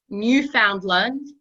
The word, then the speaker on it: Newfoundland: proud to be a Newfoundland take a moment and we're going to teach you how to say it Linda listen say the word understand understand now say Newfoundland Newfoundland oh okay you try